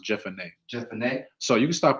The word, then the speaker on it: Jephunneh: Caleb, the son of Jephunneh. I think it's pronounced Jephunneh.